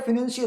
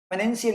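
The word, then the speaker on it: financial: तो ऐसे लगता है फिनेंशियल, हाँ रियल इंग्लिश तो ये है, लेकिन वो कोई रियल उसका प्रोनाउंसिएशन नहीं है। फिनेंशियल कोई प्रोनाउंसिएशन नहीं है इंग्लिश का, फाइनेंशियल ही होता है, ठीक है।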